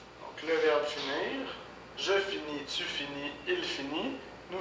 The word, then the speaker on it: finis: la dernière lettre donc on ne prononce pas la dernière lettre donc je finis sur fin qui est